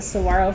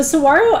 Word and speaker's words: saguaro: the saguaro forest is magnificent it's i think of a